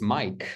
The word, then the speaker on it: Mike: It's like usually we never pronounce E on the end, but in this word we should pronounce. Doesn't Yeah. make sense because it's Mike, like Michael Jordan.